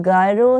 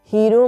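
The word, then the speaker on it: gyro: New York में Greek sandwich, गायरो sandwich मिलता था, लेकिन उसकी प्रोनाउंसिएशन सही तरीके से न्यूयॉर्क में उस वक्त बोली नहीं गई, तो वो गायरो का हीरो बनता चला गया।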